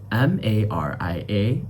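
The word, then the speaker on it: María: The word is M-A-R-I-A in English, but in Spanish, you'd pronounce it like M-A-R-E-A.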